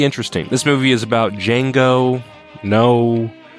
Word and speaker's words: Django: This movie is about Django. No, not Jamie Fox, the other guy. What's your name? Django. Can you spell it? D J A N G O. The D is silent.